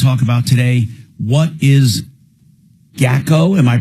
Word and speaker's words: GACO: What is GACO? Am I pronouncing it properly, or GACO? GACO.